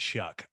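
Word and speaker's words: Shough: looked it up again the guy's last name is spelled s-h-o-u-g-h and you pronounce it shuck i don't know how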